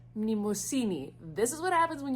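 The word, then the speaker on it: Mnemosyne: This is Nemesis. I looked it up and I still pronounced it wrong. It's pronounced Mnemosini.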